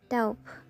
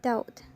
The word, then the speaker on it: doubt: English pronunciation first doubt usually this word is pronounced dope by many Learners or or English user however the correct pronunciation should be doubt in fact the son of B is omitted